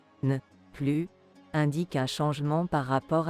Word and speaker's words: plus: Mais à la forme négative, non, nous ne sommes plus intéressés. Attention, à l'oral, on ne doit pas prononcer le S final de plus.